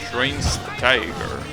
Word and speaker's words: Schweinsteiger: Just say Schwen. Schwen's Tiger.